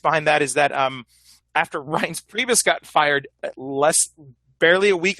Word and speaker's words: Reince Priebus: He kept referring to him as Rince Pubes. Rince Pubes. Rince Pubes. It's Reince Priebus for all you fans out there.